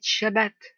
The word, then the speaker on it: shabbat: frères et mes soeurs ne dites plus saab a dit shabbat le shabbat alors je